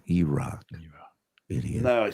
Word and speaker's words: E-Rock: It's not Eric. It's E-Rock.